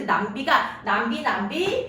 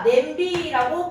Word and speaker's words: 냄비: 원래는요 남비였어요. 남비. 그런데 그 남비가 남비 하다가 냄비라고 발음이 됐는데 이제는 이 발음이 굳어져서 우리가 냄비라고 부르는 겁니다.